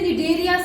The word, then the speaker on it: Cnidaria: P-O से Porifera, नी से निडेरिया, C silent.